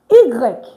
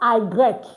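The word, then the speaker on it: i grec: Pigs pigs egreg please it's not iigre. No, it's e letter y is pronounced e.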